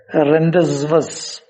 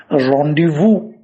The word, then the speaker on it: rendezvous: that v-o-u-s now going by the spelling we pronounce it as rendezvous when in fact it has to be pronounced rendezvous so just see the difference between the spelling